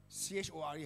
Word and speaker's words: chore: It is, sometimes it might be, how to say, you feel like every day you are doing it, it's like a C-H-O-R-E, how you pronounce?